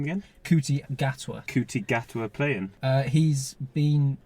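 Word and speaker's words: Ncuti Gatwa: How do you pronounce his name again? Kuti Gatwa.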